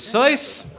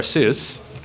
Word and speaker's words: Seuss: next question the imposter is soyuz or seuss depending on whether you pronounce his name correctly which public figure has